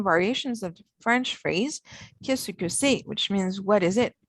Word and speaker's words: qu'est-ce que c'est: When pronounced, it is completely run together, so it sounds like qu'est-ce que c'est. It's pronounced a lot shorter than it looks. And if you try to pronounce it like it reads, you may not be understood.